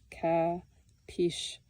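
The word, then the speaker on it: капище: And the place where the city of Suzdal sits now was the site of their kapshche, pronounced capiche.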